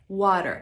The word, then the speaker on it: water: water najpierw kilka wskazówek to t w słowie Water w American English to jest Flap te Brzmi ono mniej więcej jak miękkie d albo nasze polskie r water to co też jest